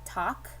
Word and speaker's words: talk: me talk i because remember this l is silence this is a silent l i can write the letter l here and then cross it out there's a tool right up here that lets you cross out letters or i can just write silent l whatever works for you